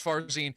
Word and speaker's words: Farzin: Farzine.